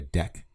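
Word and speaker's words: deque: and you can see it is pronounced deck it's short for double ended queue and it's memory efficient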